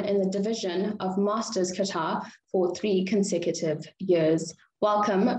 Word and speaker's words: kata: That was the first time I heard it being pronounced that way. So it's kata. That's a new twist to the pronunciation.